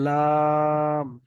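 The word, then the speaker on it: لام: তিন আলিফ টান দিয়ে বলতে হবে। লাম।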